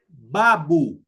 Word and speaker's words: babu: U. As the U in the word student. You know, stew. U. Student. An example in the Swahili language is in the word babu.